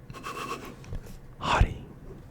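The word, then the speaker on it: haughty: Let's do the word Let's do the word hottie. Hottie. It's spelled H A U G H D Y.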